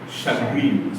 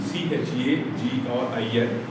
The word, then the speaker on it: chagrin: the day, that is chagrin, C-H-A-G-R-I-N, broken into 2 syllables, C-H-A, pronounced as S-H-U-H, sh. And grin, for this second syllable, you must give emphasis.